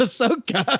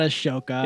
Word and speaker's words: Ahsoka: I told you it's Ahsoka. Ahsoka. Ashoka. Ashoka. It's not Ashoka. It's You don't pronounce the ace.